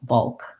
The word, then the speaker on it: bulk: an uh o um it's the same sound that we have in um like the word dull or skull um so making sure that you're just making one schwa and then going to your dark l bulk um you might